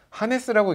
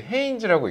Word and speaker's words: Hanes: 그 이게 이제 Hes잖아요. 한네스라고 읽는 분들도 되게 많고. 맞아요. 맞아요. 어, 제가 이번에 해인지를 시작하게 됐습니다. 이렇게 소개를 하면 대표님이 케첩을 하신다고요? 이렇게 어, 근데 여러분들 케첩은요 하인즈입니다. 헤인지가 아니에요. 하인지예요. 예, 요거는 이제 해인지라고 읽습니다.이 생각보다 굉장히 유서가 깊은 브랜드예요.